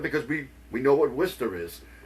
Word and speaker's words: Worcester: we we know what Worcester is. People who look at the city of Worester W. I just did it and it's supposed to it is Worester.